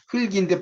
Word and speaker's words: 흙: 그럴 때는 이게 발음이 흥으로 읽는다는 거죠. 그러니까 이런 것들이 이제 이 형태이면서 이게 바로 상보적 분포입니다. 그러니까 비음 앞에서는 흥으로 발음되죠. 흙으로 발음하면 안 되죠.